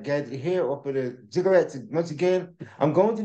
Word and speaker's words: ziggurats: and understanding of the ziggurats, or ziggurats, I should pronounce.